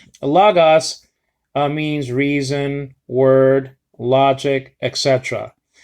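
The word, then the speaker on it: λόγος: Logos, you see? Okay, some people pronounce it in this way, logos, especially the Greeks. Logos. They pronounce it more than we do, the accents. So lay stress upon it.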